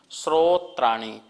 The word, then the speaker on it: श्रोत्राणि: श्रोत्राणि, जो शा है जो शा और रा से मिलके बनता है, तो श्रोत्राणि, ठीक है, ऐसा शुद्ध उच्चारण कर लेंगे।